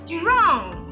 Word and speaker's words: wrong: And we have instances where this letter is silent in a word. For example, in the word wrong and in the word rap. Look at this.